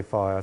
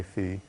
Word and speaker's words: Phi: a map fee why I sometimes say fire sometimes say fee and fire to English pronunciation and fee is American and Greek and that therefore is probably better Phi or fee why